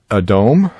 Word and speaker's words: Edom: the next word is adome uh we pronounce it Edom in our English Bibles this is Esau's nickname